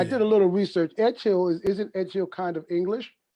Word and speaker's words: Edghill: E, like the real spelling is Edghill, and Oh, it's okay. Scottish, and it's Edgehill.